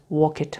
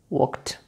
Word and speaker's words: walked: This is not pronounced walk it. How do you pronounce it? Walked.